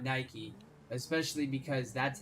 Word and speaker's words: Nike: it's Nike Lulu they pronounce their name Nike so it's Nike now if you're talking about the word Nike that has no uh correlation to the shoe brand then it would be